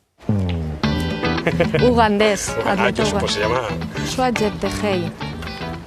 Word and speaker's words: Cheptegei: Joshua Jeptegei. Y perdona. Jeptegei. Molt bé, saps pronunciar el cognom.